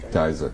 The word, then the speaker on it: Geyser: You know, and you go through all, take a sip and say, there's nothing like crystal, how do you pronounce that? Geister? Gister? Huh? Geyser.